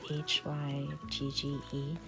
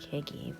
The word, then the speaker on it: hygge: note there's this scandinavian concept called hygge spelled h-y-g-g-e i mispronounced it for a long time because it kind of sounds when you read it it looks almost like higgy or that's what i thought it was but